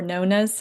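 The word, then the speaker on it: Nonnas: I uh watched a movie the other night called Nana's or Nonas, however you want to pronounce it. I'm saying Nana because it rhymes with Shauna and was laughing with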